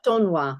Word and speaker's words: d'Aulnoy: get this right, Madame de Aulnoy, is that how you say her? Daunois, I think, is a pronunciation. Daunois. Okay, yes. So that's D'Aulnoy.